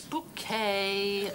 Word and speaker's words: Bucket: on the envelope it's bouquet b-u-c-k-e-t bouquet the accent on the second syllable ah this mrs bucket